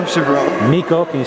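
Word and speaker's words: Chiverella: Nico Chivarella. Nico, can you spell Nico, N-I-K-O. it? And the last name? Chivarella. Spell it.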